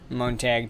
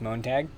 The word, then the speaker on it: Montag: tank and our uh montag tank here i don't know how it's actually pronounced i'm assuming it's pronounced the same way you say monday in german which is montag or montag so that's